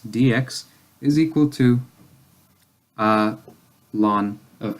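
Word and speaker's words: ln: lon of X so you kind of you pronounce this like oh oh and you pronounce it like lon and it stands for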